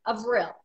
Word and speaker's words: Avril: just one point business everybody has a hard time with my name and they want to go to the Old English pronunciation or that famous Canadian singer but my name is actually pronounced of real now some of my